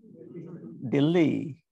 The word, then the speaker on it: Delhi: Dilly. Delhi is actually Dilly, right?